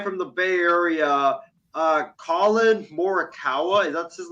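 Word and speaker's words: Collin Morikawa: with this guy from the bay area uh colin moricawa is that's his name that is how you pronounce his name uh i believe he's won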